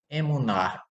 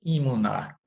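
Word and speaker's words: אמונה: Fé em hebraico é uma palavra que se escreve emuná. Emuná. Se diz emuná erudite, fé judaica. A fé, ela é uma expressão que ela pode ser entendida como emuná ou imuná, porque o radical é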